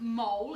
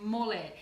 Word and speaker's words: mole: It's called chicken mole, spelt as in mole, as in the mole that goes down underground, but pronounced mole.